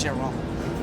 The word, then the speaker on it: Chiron: And he said, is it Chiron? And the woman was like, ugh. She was scandalized. This French lady was just scandalized. Oh, no. It's Chiron.